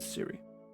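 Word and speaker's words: Cwry: apple it's spelled differently it is c-w-r-y but still pronounced siri okay i just spelled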